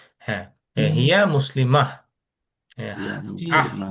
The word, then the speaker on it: مسلمة: হিয়া মুসলিমাহ, হিয়া دي আহ মুসলিমা, বলে শেষ করতে হবে কিন্তু, হ্যাঁ, মুসলিমাত না কিন্তু, ও হিয়া মুসলিমা, মুসলিমাহ। مسلمة. মুসলিমা, ওকে, হায়ের মতো একটা উচ্চারণ হবে, হিয়া মুসলিমাহ।